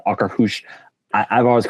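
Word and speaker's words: Akershus: They pronounce Okrahush. I I've always called it Okra House.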